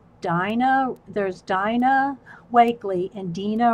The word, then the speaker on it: Dina: my art Journal my I know I'm gonna say it wrong Dean no it's not it's Dina there's Dina wakeley and